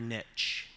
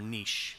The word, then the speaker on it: niche: Finding your niche or niche, depending on your pronunciation preference.